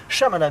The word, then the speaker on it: Shyamalan: Shyamalan, d'ailleurs, on prononce pas le Y.